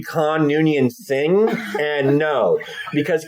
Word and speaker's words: Khan: of what's his name from The Wrath of Khan that would be con Union thing and no